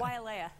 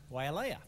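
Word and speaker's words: Waiʻaleʻale: Wailea. Wailea, not Wailea.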